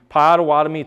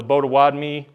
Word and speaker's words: Potawatomi: Uh this trail, the Padawadami to Miami trail as it would become known or the Bodawadmi Bode Wadmeia trail which is our actual way of pronouncing our names.